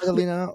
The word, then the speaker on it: Marie-Adélina: So before we get into the fun, our dear guest, Maria Maria Adelina, um is it like so am I pronouncing it correctly? Are we pronouncing it right? Adelina.